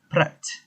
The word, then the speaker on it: Praat: what is spread first of all we might pronounce prague as pratt but actually the correct pronunciation is actually prat